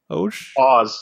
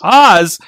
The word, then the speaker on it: Oz: Oz. Oz. Like the Wizard of.